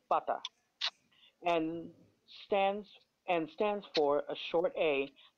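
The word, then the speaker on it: فتحة: It says written on the top of the Arabic letter is called fata. And stands for a short a. This vowel is pronounced as a in apple.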